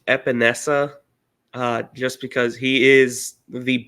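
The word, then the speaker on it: Epenesa: Correct me if I'm wrong, but I think it's pronounced Epinesa, just because he is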